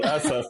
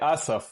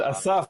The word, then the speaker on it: Asaf: People say Asaf, so like an accent on the A. But Asaf is actually the Hebrew way.